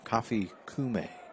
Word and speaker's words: Kofi Kume: Kofi Kume. Well, that's the way they told me I should pronounce it tonight.